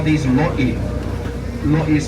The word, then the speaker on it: lo'i: Now these water beds in Hawaiian, we call these lo'i. Lo'i is spelled L-O''I.